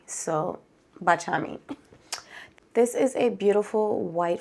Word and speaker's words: Baciami: So I used to say Baciami, but I recently learned that the correct pronunciation is Baciami. So Baciami.